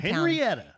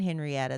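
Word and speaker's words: Henryetta: Henrietta. Henrietta. Not Henrietta, Texas. And it's spelled h e n r y e t t a.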